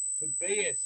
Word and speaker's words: Tobias: Tobias is actually how you pronounce it, not Tobias, not Tobias.